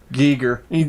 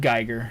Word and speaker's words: Giger: Giger. H.I. Giger's. Yeah, sorry, my bad. No, it's Geiger. I was being stupid. You're right. I always pronounced it Geiger, so.